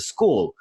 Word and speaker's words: skwl: and community called the school it's spelt skwl school just for your information uh